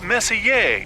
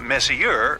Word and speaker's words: Messier: Pronounced Messier, not Messier, as in, is your room messier than mine?